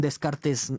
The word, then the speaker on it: Descartes: la idea de que según descartes o de cart como quieran pronunciar el apellido no existe el vacío